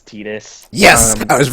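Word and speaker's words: Tidus: Is they're- in World of Final Fantasy. That's how they pronounce it. It's like the first time his name is actually spoken, so Oh, it's Titus? official. It's Titus.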